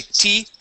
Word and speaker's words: teeth: pause very good and let's practice the th ending on the end of T okay so we say teeth teeth teeth good one